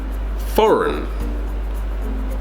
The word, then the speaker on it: foreign: as I can tell foreign for not for rain not farang bring hmm foreign foreign